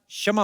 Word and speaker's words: क्षमा: मैं कश्यमा चाहेगा। कशमा नहीं क्षमा होता है। कश्यमा क्या होता है?